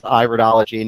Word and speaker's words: iridology: to let you know, it is not the study of the ear. So when you're referring to iridology, you could refer to this as iridology, knowing that you have the correct pronunciation.